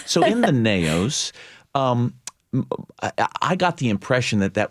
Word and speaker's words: naos: I think, am I pronouncing this term correctly? The naos. Naos.